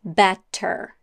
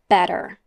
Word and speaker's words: better: in spoken American English the word better is normally pronounced with a fast D sound not better but better the transition between a